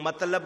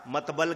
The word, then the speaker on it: مطلب: دے، تلفظ نہ کہے۔ کوئی مطلب کی جگہ مطبل کہہ دے، ہوتا ہے نا ایسا،